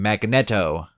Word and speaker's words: Magneto: Magneto yep that's how you say his name Magneto yep the last one being Akuma right off